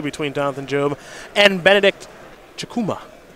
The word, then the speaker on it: Chukwuma: Jonathan Job and Benedict Chukwuma. The W is silent.